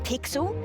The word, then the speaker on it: Pixel: name's not weird guy i'm pixel it's easy to remember because it rhymes with pickle so it does i'm